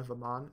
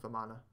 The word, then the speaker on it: Vamana: You wouldn't say Banana Vaman, it has to be Banana Vamana. That's just the correct pronunciation for the skin.